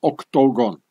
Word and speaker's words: Octogon: as the Swiss tool Octogon or Octogon. And here as well. Yeah, the Octogon. I don't pronounce it the English way, so that you know, yeah.